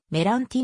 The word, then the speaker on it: Meranti: 由来記の名前メランチの発音はメ欄機に近いありがとうございます